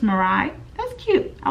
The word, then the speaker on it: Morai: I believe that's how she says it. It's spelled M-O-R-A-I, and her @ name is Morai XOXO. I hope I'm saying that right. It's kind of like Mariah, but no at the end, just Morai.